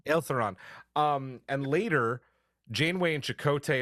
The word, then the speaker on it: Ilthuran: One to rescue, and I'm going to butcher the pronunciation, Lithuran. Okay. Ilthuran. I put the L first. Ilthuran.